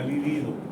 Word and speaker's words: libido: Es muy importante hacer una diferenciación de acento, como hace rato. Libido y líbido. Existen las dos palabras. Libido es el apetito sexual, se escribe con B larga. Libido. Y líbido quiere decir blanco amoratado, se escribe con B corta.